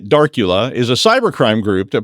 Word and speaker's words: Darcula: Speaking of these kind of things, Darcula, yes, I said it right, Darcula is a cybercrime group that provides a phishing as a service toolkit to other bad people.